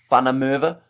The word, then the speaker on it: van der Merwe: I think van der Merwe is pronounced van der Merwe, says Ruben.